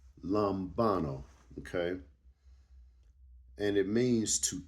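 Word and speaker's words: λαμβάνω: In the Greek, it means um it's pronounced lumbano. Lambano.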